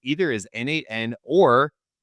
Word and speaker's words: n8n: eight it the pronun treats the numer numeral eight in the middle as a word for the number eight right second accepted pronunciation